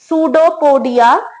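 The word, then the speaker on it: pseudopodia: इसमें ध्यान देने वाली बात है कि पी साइलेंट होता है इसमें। सूडोपोडिया, थ्रू सूडोपोडिया ये अपना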